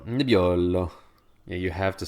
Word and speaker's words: Nebbiolo: you just want to impress anybody, please do pronounce these things this way. Say Piemonte and Barolo and Barbaresco. Barbaresco. Nebbiolo.